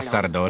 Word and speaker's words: Сардо: Саме так, бо жінка у чорному була могутньою чаклункою, а сардо шахраєм. Сардо з наголосом на останній склад.